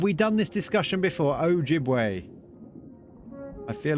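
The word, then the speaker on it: Ojibwe: The stress is on the second syllable. Okay. Ojiway.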